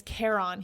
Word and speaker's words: Charon: In the book, it says it's pronounced Charon, like Care Bear, and then the word on, like off and on.